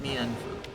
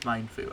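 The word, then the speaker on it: Mienfoo: It's not Mienfu. It's supposed to be pronounced Mindfu, I promise.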